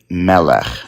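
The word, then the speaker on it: מלך: So usually, in many words, the emphasis comes in the last syllable. But for segolite words, it comes on the second to last syllable.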